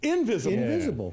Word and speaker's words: Ynvisible: pronunciation of the name perfect company name invisible invisible you interactive invisible interactive spelled with a lie so first of all